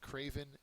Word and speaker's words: craven: is Craven okay and Craven uh is an adjective it's also a noun they're both very similar though uh the first syllable is accented it means cowardly or